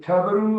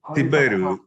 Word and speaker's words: Tiberiu: How do you pronounce your name? Is it Tabaru or Tabaru? Tiberiu.